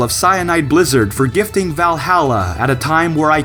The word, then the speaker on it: VA-11 Hall-A: An indie game called VA11 Hall A or Valhalla as it's supposed to be pronounced.